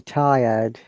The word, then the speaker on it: tired: Because British English is non-rotating English, I don't need to pronounce letter R in many cases.